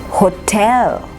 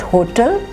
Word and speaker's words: hotel: Hotel, hotel, not hotel, but hotel.